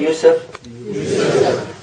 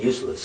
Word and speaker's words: Yusef: name is joseph can you say youssef no they said it right how come you keep saying useless but it might be